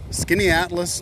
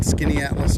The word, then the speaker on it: Skaneateles: a panorama here um in skinny Atlas New York and that's spelled funny let's walk up this